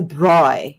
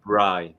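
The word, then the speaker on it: braai: And in my country, it's not a barbecue, by the way. It's a bri. That's what you say it in my country. Bri.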